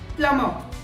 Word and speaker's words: plumber: B is silent in this word. The correct pronunciation is plumber.